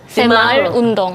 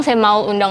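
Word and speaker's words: 새마을 운동: tuh apa sih sebenarnya semul undong semul undong ini kan itu bacanya benar semaul undong gak tau orang Korea Bacanya apa kalau di Korea sih sebenarnya sem semaul semaul undong undong Iya semaul undong tapi biar gampang sem Maul undong aja kayaknya enggak apa-apa eh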